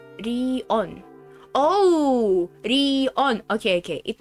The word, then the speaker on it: Rion: is written as Rigyo, but pronounced like Rion.